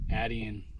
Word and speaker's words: Attean: been corrected right here the name of the lake is Adian pond so I've been saying it wrong so I apologize to